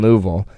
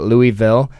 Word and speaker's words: Louisville: stopped by cops in Louisville um which I was also taught how to say it's not Louisville the guy said uh give up saying it halfway through it's Louisville and you Le something new